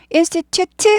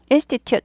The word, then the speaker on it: institute: 따라하시고 왔다 갔다 하세요 곱하기 다섯 번 예 인스티튜트 하지 않죠 이런 걸 튜트 하니까 못 알아듣는 거예요 네이티브들이 스티 해서 튜 여기는 스타카트 살짝 되죠 스티 institute 하고 말죠 트 하지 않아요 wec 이것도죠 간